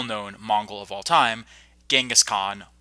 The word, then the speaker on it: Genghis Khan: mongol of all time Genghis Khan also known as jingis Khan or Chinggis Khaan there is some controversy over how you pronounce his name now in this series